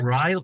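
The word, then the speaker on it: Riehle: Riley. Is that how you pronounce Riley?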